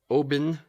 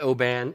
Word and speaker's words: Oban: Obon basically yeah not Oban it's Oh BA n is actually the spelling of it but it's pronounced Oh H like emphasis on the Oh bin like a bin of trash anything open yes all